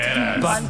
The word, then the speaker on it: Banderas: But somehow, Banderas, by the way, this is the way I pronounce it. Banderas. You gotta bring in the Spanish on that one.